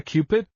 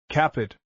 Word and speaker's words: Cupid: Is he not a Cupid? She pronounces it Capid.